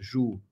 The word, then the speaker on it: juíza: Agora vamos pensar em juíza. Ju-i-za. Olha a juíza, olha a juíza. Olha o hiato aqui. O I sozinho na sílaba. Então, juíza com acento gráfico.